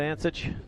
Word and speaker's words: Antic: bunker my name is antic not to be pronounced any other way by the two butchers